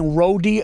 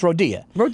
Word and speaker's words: Rodia: Well, I could see like people saying Rodi cuz the You know what I mean? But, it's Rodia.